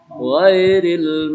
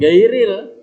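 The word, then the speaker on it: غَيْرِ: Pirut huruf agenda, agin tuh dibacanya ga, bukan ga. Ghairil, bukan gairil.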